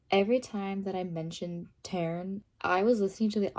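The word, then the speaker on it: Tairn: with the audio, but in the audiobook they say his name Taryn, not Taryn, like T-A-I-R-N. They say it T-A-R-I-N. Taryn instead of Taryn.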